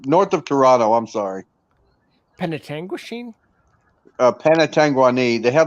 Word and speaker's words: Penetanguishene: I'm mispronouncing it, ain't I? I'm calling it Penetanguani. What are you calling it? Penetanguishene. Penetanguishene. Okay.